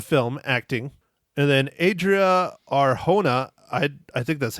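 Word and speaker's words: Arjona: acting and then Adria r hona i I think that's how you pronounce it audrea audrea R it's j n a but I'm pretty sure it's H or hona uh yeah she was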